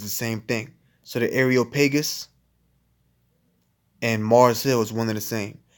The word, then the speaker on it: Areopagus: I believe it's pronounced Areopagus, which Areo goes back to Aries.